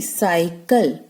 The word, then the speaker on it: cycle: अब यहां पर भी C के बाद A है तो हम इसका हार्ड साउंड प्रोनाउंस करेंगे. अगला वर्ड देखिए, CYCLE साइकिल.